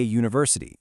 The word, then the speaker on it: university: Check out a university. It starts with the vowel letter U, but it sounds like a Y.